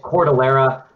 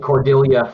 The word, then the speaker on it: Cordillera: It's not easy for people to pronounce. And we get Cordillera 90% of the time, we get Cordillera 5% of the time.